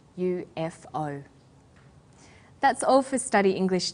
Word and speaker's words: UFOs: UFOs is pronounced UFOs we usually say you f oh that's all for study